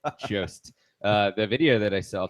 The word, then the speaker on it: Jost: that I saw about Jost. It rhymes with post, but I keep saying Jost because I like I think he's Swedish. Jost.